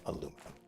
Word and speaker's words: aluminum: this biome full of aluminum, or if you prefer, aluminium. I use them both interchangeably. It's just the way I am. I've learned to use both. Neither one is wrong. They are both correct pronunciations.